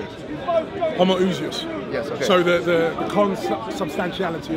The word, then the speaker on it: Homoousios: Homoousios.